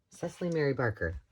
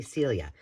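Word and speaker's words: Cicely Mary Barker: I also found this frame, if you will, and I had these, I'm going to say it wrong again. Cecily Mary Barker. I always want to say Celia.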